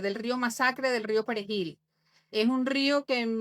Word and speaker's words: perejil: eran dominicanos era diciéndoles que pronunciaran la palabra perejil, que es una palabra muy difícil. difícil para eh no para quien no es hispano pararlante eh al no al no decir perejilo, decirlo con acento creol asesinaba.